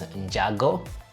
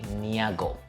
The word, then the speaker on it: Njago: They would say Niago, and sometimes they would even write it like that, Niago, with a Y, and it's supposed to be a J.